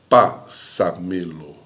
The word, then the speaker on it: pásamelo: Ela vem o acento aqui na primeira palavrinha, olha lá, na primeira sílaba, ó. Pásamelo, pásamelo, pásamelo. Você vai diminuindo, né? Você começa forte, pásamelo, tá?